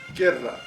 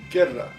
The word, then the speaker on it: guerra: It has no sound, because in Spanish, when the letter U appears with another vowel next to it, you cannot hear it. It is silent.